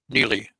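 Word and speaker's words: Niile: Canadian girl with the name n n i i l e She pronounced it Neely and she came almost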